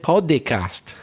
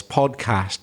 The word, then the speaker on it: podcast: Did you notice, Erasmo, you said podcast? You put like a little E sound in the middle there. Do you know you're doing that? It's just two syllables, podcast.